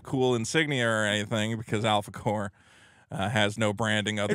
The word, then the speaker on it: Alphacore: Say it right. Don't say it like it's not corpse like you're saying. Oh, you're it's right. Alphacore. You got to really empathize the O and the R and the E.